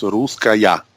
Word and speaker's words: Russkaja: You say Russkaja or Russkaja, pero nosotros en Austria decimos Russkaja. Oh, that's good to know. Russkaja, yeah, sí. But it's not that international pronunciation. It's from the German language. You know, we divide the words Rus, ska, and ja, and ja means yes or si.